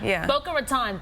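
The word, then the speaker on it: Boca Raton: north of Broward County and Palm Beach County boaat Raton right that's how you pronounce it boa Raton thank you I always mispronounce that City uh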